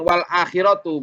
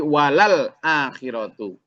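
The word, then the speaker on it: وَلَلْآخِرَةُ: Jadi bukan wal akhiratu, bukan. Tadi agak keliru bacanya. Bukan wal akhiratu, tapi walal akhiratu.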